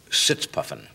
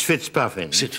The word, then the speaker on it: Fitzpuffin: um British agent Leslie sits puffing actually it's it's fitzpuffin I'm sorry it's mispronounced it was where the when I was first a young agent and obviously still being mispronounced but perfectly understandable perfect